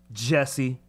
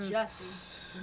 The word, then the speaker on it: Jussie: Jesse. Fucking smell it. First of all, it's Some- Jussie, not Jesse.